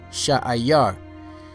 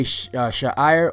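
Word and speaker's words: שעיר: Sha'ayar. You know, there's sometimes it's spelled Sha'ir, but in most places I saw it spelled Sha'ayar. Sha'ayar. You know, so whether you say Sha'ir or Sha'ayar, the word Sha'ayar means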